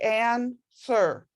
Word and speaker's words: answer: family that's great the the problem with answer is you don't say that w it's like ann sir you don't really say